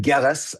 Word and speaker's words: Gillis: name there sir Yeah, it's Gillis Hard G.